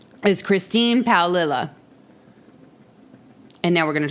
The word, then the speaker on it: Paolilla: So I know that this bitch's name is Christine Paolilla.